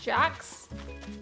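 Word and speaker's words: Jacques: I'm pretty sure his name is pronounced Jax.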